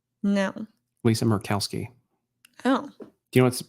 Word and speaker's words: Murkowski: The Kowski's fine, but I always assumed that the Mur was like mermaid.